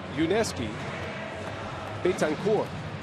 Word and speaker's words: Yuniesky Betancourt: It is Yuniesky Betancourt. Without a T at the end.